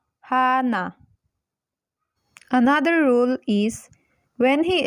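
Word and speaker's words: 하나: in the first position so it will be pronounced as Hana Hana another rule is when he earth is placed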